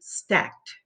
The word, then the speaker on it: stacked: So we say stacked. See how you hear the t?